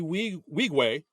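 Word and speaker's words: Nwigwe: Sanctified with uh we wegue uh who that's how we say okay yeah I looked it up I I wanted to make sure I said it right but yeah yeah it's NWI gwe so I'm I look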